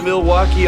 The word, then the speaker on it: Milwaukee: Do you come to Milwaukee often? Actually, it's pronounced milwauke for the good land.